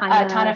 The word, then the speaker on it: Tana: So I love, oh gosh, I don't know how to pronounce her name. Is it Tana or is it Tanya? Oh, Tana French.